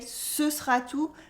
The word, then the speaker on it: ce sera tout: tout, that we say ce sera tout, where we cut the E in the middle of sera and the T at the end of tout is silent.